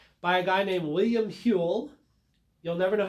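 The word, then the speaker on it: Whewell: a guy named william hewell you'll never know how to spell his name he's one of those great english names that you can't tell how to spell from the way it's pronounced w-h-e-w-e-l-l huell anyway william hill invented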